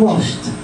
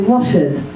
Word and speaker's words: washed: the past washed washed if you listen carefully I'm putting the T sound on the end washed and dimes is a D sound um weighted I isn't it so there's an extra syllable that what a very common mistake for students is to always add an extra symbol a symbol sorry so instead of washed they say wash it okay that that I